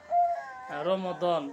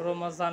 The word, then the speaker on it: রমদান: দোহা বাংলাতে হয় দোহা যেমন রমদন তাকে রমাজান বলি আমরা বাংলাতে এখানে আরবিতে হবে রমদান সূরা দোহা এই সূরা